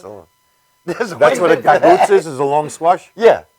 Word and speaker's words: Gagootz: How do you pronounce it? Gagootz.